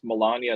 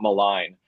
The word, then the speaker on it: Melania: I think it's pronounced Melania, not malign.